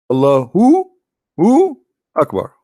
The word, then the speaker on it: Allahu Akbar: So when a Muslim he says Allah, you notice he pronounced something. He say Hu Akbar, correct? Hu Akbar. But when they say it, but they don't write it. Hu Akbar. Allahu Akbar.